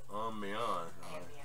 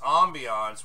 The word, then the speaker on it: ambiance: I said ambiance. You know, no, it's pronounced ambiance when you're speaking about an overall feel.